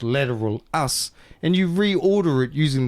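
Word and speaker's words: Lateralus: Did you know if you take the album lateralis which is supposed to be pronounced lateral us and you reorder it using the Fibonacci sequence you'll get the actual album.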